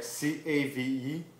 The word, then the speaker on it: cave: to become so where c-a-v-e cav it's like k but you spell it cav try it cav cav